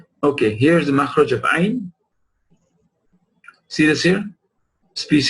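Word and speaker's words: ع: Ayn, al-aynu. Look how the epiglottis moves back all the way when ayn is pronounced.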